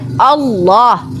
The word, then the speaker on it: Allah: Harus kalau alif lam itu ditebalkan karena diawali dengan huruf fathah, maka bacanya Allah.